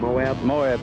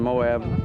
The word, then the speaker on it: Moab: Moab, Utah. Moab, Utah.